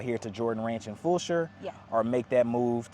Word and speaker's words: Fulshear: should move out here to Jordan Ranch and Fulshear, Yeah.